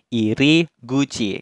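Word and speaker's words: 入口: ini kebalik aja nah kanji ini itu dibacanya iri guci kanji mulutnya juga dibacanya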